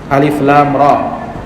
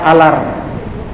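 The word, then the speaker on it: الر: ketika membacanya Jangan disambung Jangan dibaca alar tetapi dibaca huruf per huruf terputus alif lam Jangan dibaca Ar atau alar makanya dikenal dengan Alquran huruf-huruf yang terputus-putus tidak dibaca dengan disambung dan kalau kita melihat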